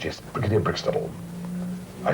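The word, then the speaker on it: Breaksteddle: And I said, now how do you pronounce it? She said, Brickstable.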